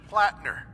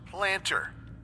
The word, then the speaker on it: Plattner: Like this one glitch where Sergeant Plattner keeps getting pronounced Planter.